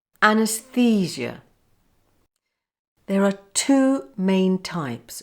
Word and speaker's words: anaesthesia: say fissure fuchsia now let's try the whole word a nurse physio and put them all together anesthesia anesthesia there are two main